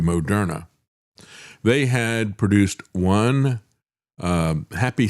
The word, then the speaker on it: Moderna: As a matter of fact, the way they initially pronounced their name was mode RNA and then they changed the pronunciation to Mona.